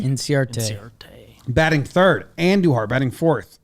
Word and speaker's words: Inciarte: Inciarte? Inciarte.